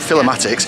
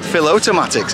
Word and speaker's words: Filotomatix: day long Avenue so I would call it philomatics uh so what's actually called Phil automatics so how do you